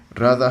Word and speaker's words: Radha: Radha has no TH pronunciation.